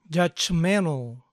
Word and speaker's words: judgmental: esta palabra judgmental judgmental a veces pronunciado sin la t judgmental judgmental Why are you